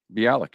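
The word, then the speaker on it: Bialik: TC uh beik did I say it right be Alik yeah Blossom just call her Blossom that's who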